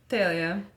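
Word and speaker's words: Thalia: melom is pronounced melamine phalia actually is pronounced correctly phalia Cleo the debate is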